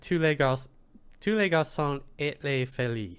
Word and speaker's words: tous les garçons et les filles: It pronounced it tous les garçons et les filles.